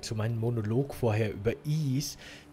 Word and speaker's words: Ys: Ich muss vielleicht ganz kurz noch dazu sagen, zu meinem Monolog vorher über Is. Das Spiel schreibt man YS quasi, aber es wird wohl Is ausgesprochen, habe ich mir sagen lassen.